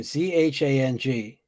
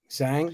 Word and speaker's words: Zhang: How do you pronounce her name? Zhang. Zhang.